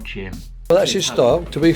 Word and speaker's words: Jim: but to be fair I have the same issue when saying my own name Roy and I both seem to have lazy J's in our pronunciation it happens to me all the time when I meet people hi I'm Jim Tim no Jim Kim no Jim as in Oh nice to meet